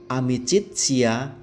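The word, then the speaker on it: amicitia: arah are artinya Alphard amicizia amici cie artinya persahabatan berarti kan kata Teddy ikuti vokal amaka dibaca TS amicizia Amy childs cie leticya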